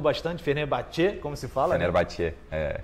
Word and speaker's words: Fenerbahçe: Fenerbahçe, né?